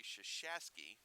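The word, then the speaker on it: Chuchaskie: foot on it yes that name sounds a lot like the Duke men's basketball coach it has felt very differently but pronounced similarly shush a ski as CH uch a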